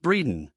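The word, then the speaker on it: Bredon: bells they sound on Breen and still the Steeples hum come all the church good people oh moisy Bells be dumb I hear you I will come one pronounced Breeden xxi I the street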